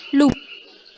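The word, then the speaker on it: loup: Contohnya itu ada loop dibacanya loop.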